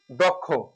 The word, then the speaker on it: দক্ষ: এবার আসি দক্ষ দক্ষ দ এর সাথে ও আছে এখানে তারপর কি আছে কি যদি থাকে আর শুরুতে যদি থাকে তাহলে আমাকে যে কাজটি করতে হবে এই দটা ও হয়ে যাবেদ এখানে যেটা আসছে ভেঙ্গে আস ক এর সাথে খ হবে শেষটা ওকার হবে আর এটা একটা যুক্ত